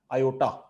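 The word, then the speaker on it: iota: हम कहते हैं i, और इसको प्रोनाउंस कैसे किया जाता है, आयोटा।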